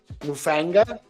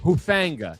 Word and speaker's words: Hufanga: Mufanga. Who with the H? Hufanga. Hufanga. Hufanga. Really? Yeah, from the Niners. Yeah. I thought it was Moo. Yeah. Oh, it's with an H.